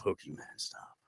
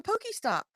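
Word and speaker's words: PokéStop: man chuckecheese is a Pokemon stop it's a Poky stop that's what they're called it's a Poky stop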